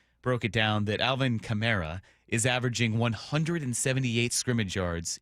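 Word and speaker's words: Kamara: It's not positive it's Chimera cuz I was a Camarra guy, but now I've learned that the error of my ways, it is Chimera.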